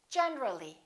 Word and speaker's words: generally: When we add the ly, we say generally. Generally, not generally.